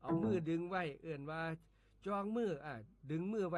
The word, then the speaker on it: จ่อง: คำ ว่า จอง ครับ จอง เขียน จอ จาน ไม่ เอก ออ อ่าง งู ร่วม ก็ แล้ว อ่าน ว่า จอง ครับ จอง ออก เสียง เป็น จอง นะ ครับ จอง จัง จอง